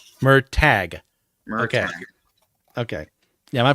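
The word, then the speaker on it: Murtagh: yeah check it out was it m tag or mer toog I never could remember how to pronounce it correctly well uh he's oh hand pronunciation guide puts a pronunciation guide in the back of the book so let me make sure I'm reading it right um this is gonna go on for too long yeah it's okay mer tag okay yeah my pronunciations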